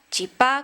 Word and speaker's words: chipá: llama de manera distinta se le dice chipa chipá con acento en la en la a chipita chipacito de varias